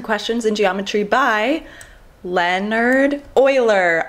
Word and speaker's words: Euler: in geometry by Leonard Euler i've been mispronouncing his name my entire life i used to say ulor it is not alert it is euler his 1736 paper on